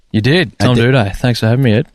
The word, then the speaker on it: Doedee: Tom Doedee.